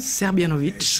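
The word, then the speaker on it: Srbljanović: l'auteur s'appelle Bana sabovic je prononce à peu près serbianovic serbianovic comment vous êtes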